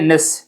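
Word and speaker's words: gneiss: इससे हम बनाते हैं निस जी यहां पर साइलेंट होता है जी ई आई जी एन ई I double S ठीक है उसके बाद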